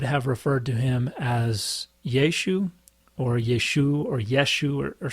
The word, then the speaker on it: Yeshu: But people in Galilee pronounce things differently, and there is pretty good scholarship that indicates that they would not have pronounced the little A on the end. So whereas many people think it's Yeshua or Yeshua, they probably pronounced Yeshu.